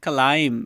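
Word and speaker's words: climb: पे आप देख रहे क्लाइम सही ये बी है बी यहां पे साइलेंट है ठीक है ये क्लाइम इसको नहीं पढ़ना क्लाइम सही है क्लाइम क्या हुआ उस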